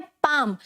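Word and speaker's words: palm: पाम। पाम मतलब हमारी जो हथेली होती है, ठीक है, राइट, पाम। फिर क्या है? हाफ, ठीक है। तो यहाँ का एल जो है वो भी साइलेंट है, राइट।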